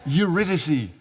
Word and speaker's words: Eurydice: now I have to see if I can pronounce it correctly. It is a story of Orpheus and Eurydice. Yes. I got it! Eurydice.